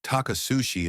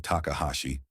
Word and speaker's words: Takahashi: He'd called him Takasushi instead of Takahashi.